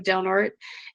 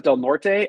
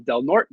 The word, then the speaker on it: Del Norte: I thought it was Del Norte. I butchered that one. Del Norte County Fair.